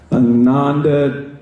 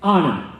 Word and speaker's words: Anand: my name the exact same way Anandi chunker Malala Langham my hand goes up before